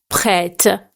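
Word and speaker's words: prêtes: And if it's plural, you should say prête. Don't pronounce the S.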